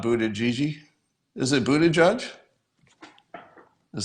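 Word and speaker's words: Buttigieg: all right uh so you pronounce a it Buddha judge not Buddha Gigi is it Buddha judge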